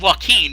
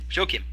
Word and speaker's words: Joachim: No, it's not Joaquin. It's the German form, Joachim.